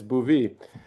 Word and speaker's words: Bouvy: I just occurred to me I was about to say Bouvet, but it's it's uh it's not Bouvet, it's Bouvie.